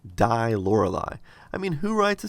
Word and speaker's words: Die Lorelei: on several occasions, I immediately recognized the proper pronunciation of that song is actually "Die Lorelei" which stands for "the Lorelei" which, the Lorelei